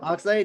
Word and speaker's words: Oxlade: And it's with I'm pretty bad with names, so I don't want to mispronunciate, but it's like Oxlade. Oxlade, yeah.